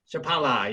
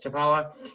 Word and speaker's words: Chapala: Here with the pronunciation. Namaste Lake Chapala. Chapala, yes, Chapala, an interfaith peace and community.